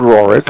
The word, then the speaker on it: Roric: the line so far oh it's Rorick thought it was Rodrick he said well it's it's spelled roric okay I'll I'll say roric I apologize folks roric